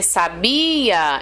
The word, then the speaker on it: sabia: antes né da última é o caso aqui ó Olá você sabia esse sabia esse be acaba sendo mais forte entendeu então Bia aí